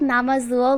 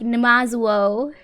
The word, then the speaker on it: Namazuo: Like, they called Namazuo like Numazuo.